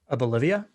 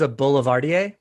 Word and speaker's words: Boulevardier: pronounce it can't you a bolivia is that what is it a is a boulevardier yes campari vermouth and i